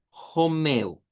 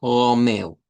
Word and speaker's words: Romeu: Romeo, Romeo o bien Jomeu con Jomeu. Romeu. Eh, ahí estaríamos con una R, digamos, un poco más suave, tirándole a esa H o tipo J, si lo queremos ver como en el español.